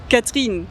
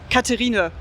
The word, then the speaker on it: Catherine: So yeah, I've got a French name, which is it's spelled like the English Catherine, but Yeah. it's said Catherine. Yeah. So in Germany, everybody says Katharina, and I was so upset with that.